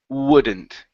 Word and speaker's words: wouldn't: the word wouldn't okay so open your mouth just a little bit more for that for that second vowel so you're right you start off with the W ooh but then you have to go to an oh whoa wouldn't wouldn't ya